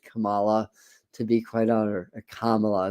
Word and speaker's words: Kamala: to be quite honor Kamala let me keep remembering to pronounce her name correctly Kam Kamala not Kamala Kamala um all right all